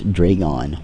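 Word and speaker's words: Draygon: I ever corrected myself it's Dron 10 not draon I don't know if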